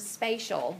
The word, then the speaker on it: spatial: never heard the word spatial before I'm not trying to say special and just mispronouncing it this is spatial and racial is to race as spatial is to space okay so you're taking